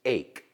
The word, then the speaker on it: ache: But it's ache.